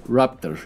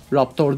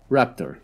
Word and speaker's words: Raptor: Arkadaşlar, bunun doğru okunuşu Raptor, yani yırtıcı kuş diyebiliriz anlamını. Bir de bazı yırtıcı dinozorlara da Raptor deniyor diyebiliyorum. Bu Raptor değil yani, Raptor.